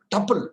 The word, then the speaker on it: tuple: Tuple. This is called, pronounced it as tuple.